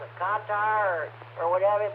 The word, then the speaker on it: Qatar: They weren't sure how to pronounce it, Qatar or whatever, but Wolf Blitzer said it's pronounced cutter.